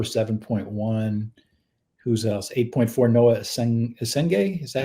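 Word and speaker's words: Essengue: 8.4, Noah Esenge. Is that how you say it? Esenge, yeah.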